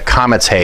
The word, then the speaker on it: Kametz He: Now, Kametz He says ah, as in father.